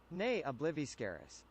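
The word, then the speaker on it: Ne Obliviscaris: Um, let me see really quick how to pronounce uh pronounce nay obliviscaris. Obliv obliviscaris. Nay obliviscaris.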